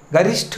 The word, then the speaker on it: गरिष्ठ: उसका अक्षुण, गरिष्ठ, गरिष्ठ की सबसे बड़ी क्या प्रॉब्लम है, क्या इसमें गलतियां कर सकता है, जो ये ठ है गरिष्ठ, तो इसमें टे लगा देता है, ये क्या